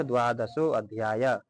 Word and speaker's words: द्वादशो: अथ द्वादशो अध्याय द्वादशों में जो है सो का उच्चारण दीर्घ करें। यानी कि द्वादशो अध्यायः यानी कि दीर्घ करना है।